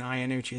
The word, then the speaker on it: Iannucci: Did I say Iannucci, like Italian Iannucci? It's Iannucci. She pronounces it herself, right in the piece.